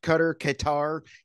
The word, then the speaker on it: Qatar: How do you pronounce it? Qatar.